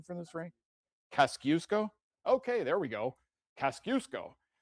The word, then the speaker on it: Kosciuszko: Do you have a Do you have a pronunciation for this ring? Kosciuszko?